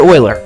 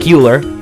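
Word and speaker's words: Euler: Greek letter Pi this man's name was Leonard Oiler yes I know it looks like uler but it's pronounced as oer you might have heard of him he didn't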